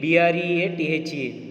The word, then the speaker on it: breathe: Breathe, breathe, breathe. What is the meaning of breathe here? It is a verb. So if e is there, we have to pronounce th is here as da sound.